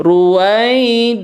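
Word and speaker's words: رُوَيْدًا: Ruwai, nah itu nggak boleh ruwai ya. Tapi ruwaid, nah, ruwai, nah itu lembut saja ya, mengalir.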